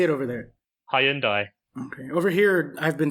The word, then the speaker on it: Hyundai: say it over there high end I over here I've been told that it's supposed to be pronounced like the name of the day of the week Hyundai Sunday just ignore letters